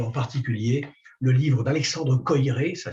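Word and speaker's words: Koyré: Je vous recommande en particulier le livre d'Alexandre Coiré, ça s'écrit K-O-Y-R et accent aigu, Alexandre Coiré, le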